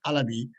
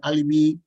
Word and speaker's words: Alabi: I said, no, my surname is not Alibi, my surname is Alabi, my surname is Alabi. If you want to pronounce it in your own way, that's fine, but it's not Alibi and it's not Alibi.